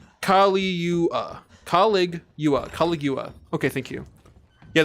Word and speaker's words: Caligula: It's pronounced Caligula.